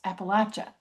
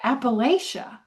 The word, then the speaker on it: Appalachia: Why is it, for example, that nobody outside of this region knows how to even pronounce Appalachia? They say Appalachia.